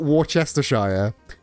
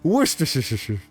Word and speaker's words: Worcestershire: It's not Worcestershire, Worcestershire. Just get real lazy with it. Worcestershire. It's not Edinburgh or Edinburgh. Edinburgh. Yeah. Worcestershire. Just Worcestershire. As long as you get the first syllable with some oomph, it's Worcestershire. Worcestershire. It's all up and then down.